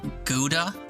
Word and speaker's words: Gouda: Doug made me realize the proper pronunciation of the word Gouda.